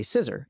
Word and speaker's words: scissor: I said, okay, can you say sir? And she says, sir. I'm like, good. Can you say iser? And she says, iser. Like, great. Can you say scissor?